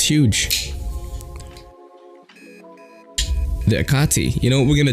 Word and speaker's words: Hecate: quick look at the okati i think they the H is silent on that yeah I like it